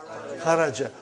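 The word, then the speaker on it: خَرَجْ: Say it properly. Kharaj. With sukun. You won't say with? You will say kharaj.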